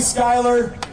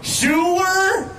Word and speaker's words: Schuyler: Dan over here keeps going, Schuyler, because of how it's spelled, and I just want to make sure I get it right.